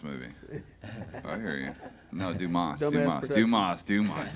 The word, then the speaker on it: Dumas: Oh, dumbass. Yeah. Oh, yeah. Yeah. Swashbuckle. Oh, yeah. Go. Yeah. Dumbass movie. I hear you. No. Dumas. Dumas. Dumas. Dumas. It's pronounced Dumas.